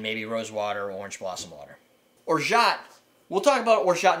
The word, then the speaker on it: orgeat: that one too so the first thing must cover is or shot it's pronounced it's Ord e8e I'm gonna see if I can put words down there so you can see it most people call it or gate it's or shot or or shot something